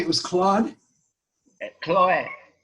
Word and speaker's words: Chloe: Chloe, like the Greek goddess of the grass, Chloe. C-H-L-O-E. Chloe, yes. Chloe. Oh, wow. I'm French educated, and in French it's Chloe.